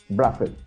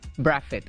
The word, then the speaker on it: Brathwaite: Braffett, that's how you pronounce it, or Brathwaite? Braffett. Braffett. All right, so I got it correct the first time.